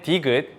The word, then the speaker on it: 디귿: And then 디귿 with a D sound, 드.